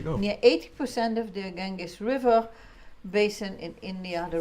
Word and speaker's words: Ganges: The Ganges River. It's spelled Ganges, yeah. not G-E-E-Z, but you pronounce it like that.